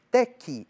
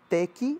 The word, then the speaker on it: teki: Existe o Pantum Teka, Teki. Aliás, antes o Nazihat, né? Nazihat se escreve N-A-S-I-H-A-T. Nazihat. Tem o Pantum Teka, Teki. Teka é T-E-K-A, Teki é T-E-K-I.